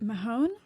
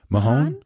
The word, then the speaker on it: Mahan: How do you say that? Mahon. Mahon.